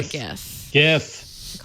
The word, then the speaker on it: GIF: And, you can even, if you want to make a GIF out of screen recording, I use this when I'm in Animal Crossing, that's nice.